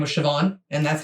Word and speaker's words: Siobhan: us okay so this is how you actually pronounce them Neve Siobhan Naomi and uh this one Issa now where